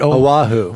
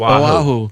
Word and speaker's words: Oahu: Oahu. Oahu. Oahu.